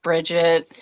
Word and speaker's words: Brigitte: brette briet briette yeah it's just Bridget uh yeah yeah I